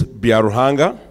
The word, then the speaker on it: Byaruhanga: if you learn something today to be out pronounced my name my name is biarrojanga um it actually translates to for God so